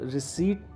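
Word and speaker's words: receipt: वह रिसीप्ट मैं इसको कुछ लोग गलत बोलते हैं इसमें पीस को साइलेंट करके बोलना है आपने इसको रिसीप्ट कहना है क्या मुझे इसकी रसीद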